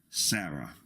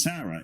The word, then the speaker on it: Sarah: in the English name Sarah sometimes Sarah is spelled SAR a without the H but is pronounced the same because the H is silent likewise the Hebrew hey